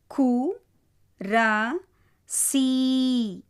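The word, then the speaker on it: कुर्सी: அடுத்த வார்த்தை கு ர சி. கு முதல் எழுத்து, இரண்டாவது ரா, மூன்றாவது சி. பாரகடி. அதனால் இஸ்ன்னு சொல்லக்கூடாது, சி தான் சொல்லணும்.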